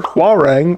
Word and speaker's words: Hwarang: However, Hwarang rhymes with boomerang and that's ridiculous.